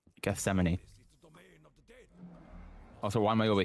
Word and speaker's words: Gethsemane: But it's like when people were going on about how to pronounce Gethsemane and everyone was saying like guessine and stuff and it was like no Gethsemane.